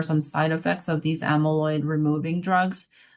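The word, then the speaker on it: amyloid: well for the infusion intervention for targeting amaloids. Hope I'm pronouncing that correctly.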